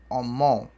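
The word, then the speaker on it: ọmọ: Vogal nasal terminada em O tem som de ON. Então escreve-se omó e pronuncia-se omon.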